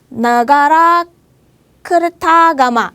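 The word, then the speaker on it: Nagarakretagama: 하지만 여기 지금 우리가 보고 있는 이 그림은 나가라 크르타가마, 이거 인도네시아 발음으로 하면은 느가라 크르타가마라는 경전이에요.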